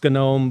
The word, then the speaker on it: GNOME: Um there's distributions, there's desktop environments, there's best practices, there's commands, there's the proper way to pronounce Gnome. Um I know it's gnome, but you know, I I don't do that.